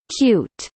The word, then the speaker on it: Qt: Qt, pronounced cute, is a cross-platform application